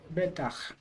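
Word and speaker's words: בטח: Betach. Yeah, right, betach. We have two short vowels, so you accent the first syllable.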